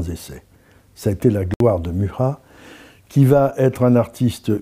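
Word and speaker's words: Mucha: d'un article étonnant murat qu'on écrit micha mais on prononce murat dont la carrière a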